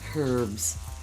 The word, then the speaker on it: herb: do that's right the herbs say anything in Canada it was a herb Alba is the French silent H yes and now put